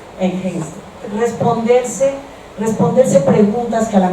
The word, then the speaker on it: Hengst: Se pronuncia Hengst.